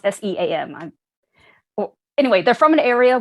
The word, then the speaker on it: Seam: and family, they're from a place called the Sham. I think it's pronounced SEAM.